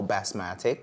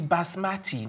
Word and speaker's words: basmati: want what's the call bass Matic so our bass Matic and my mathematic its basmati there's no K or C sound at the end just best I do